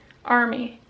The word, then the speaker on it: Amrie: Oh, plus my camera is named Army. But it's spelt weird.